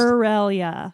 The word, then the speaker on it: Shirelia: Shirelia. Kind of Shirelia. like Australia, but not.